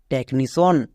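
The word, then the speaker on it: technician: এন আই নি সি আই এ এন সন টেকনিসন তাহলে ওয়ার্ডের শুরুতে যদি আমরা দেখতে পাই টি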